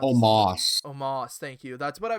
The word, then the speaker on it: Omos: um how how do you how do you pronounce moss omos thank you that's what i was figuring i